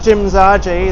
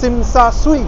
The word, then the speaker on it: Tsim Sha Tsui: It's not Jim Zaje, that's not how it's spelled, it's Tsim Sha Tsui.